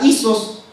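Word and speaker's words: ἴσος: Y esa palabra en hebreo que utiliza igual es la palabra isos. ¿Ya? No sé si estará bien escrito, pero así se pronuncia.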